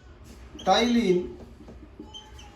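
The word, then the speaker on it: टायलिन: टाइलिन, इसके अंदर P silent होता है।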